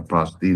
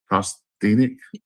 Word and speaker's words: prosthetic: That's the only reason I thought it was like could have been like a prosthetic. Is that even the right word? Prostthenic mask.